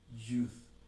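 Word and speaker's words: י: La Y en el hebreo se pronunciaría, ahora con vocales, se pronunciaría Yud. Yud. Sería el sonido aproximado de la Y, lo que conocemos como Y.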